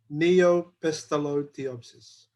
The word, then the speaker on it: Neopestalotiopsis: can repeat after me i usually pronounce it by saying neopestolo thiopsis all right now change